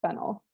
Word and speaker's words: phenyl: okay if it's okay so if it's as a substituent it's fennel yeah okay perfect okay so